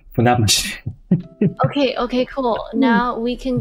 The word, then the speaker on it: Funabashi: The city name is pronounced Funabashi.